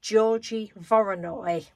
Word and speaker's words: Georgy Voronoi: I think it's Voronoi tessellation, and it's named after a Russian mathematician called, I'm sure this isn't how you pronounce his name in Russian, but I'm going to say Georgy Voronoi.